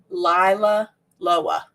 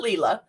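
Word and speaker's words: LilaLoa: confusion at cookie con it is lila loa that is actually how you say it it's not lila it's lila loa so she confirmed it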